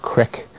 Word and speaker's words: creek: You go from E to I, as in we have the word creek, but it's often pronounced crick.